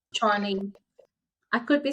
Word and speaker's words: Tshwane: Yeah, really, really beautiful and empowering, and love what you're doing with the it's Swanee, right? Is that correct? Yes, That's it. Yeah. Tshwane.